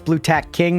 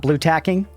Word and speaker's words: Blue Tack King: Because it's Blue Tack King, not Blue Tacking.